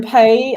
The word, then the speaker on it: Pei: It's just like the verb to pay in English.